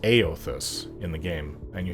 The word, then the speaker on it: Eothas: god is pronounced ao it's spelled e-o-t-h-a-s so you would think e-others but it's pronounced aeothus in the game and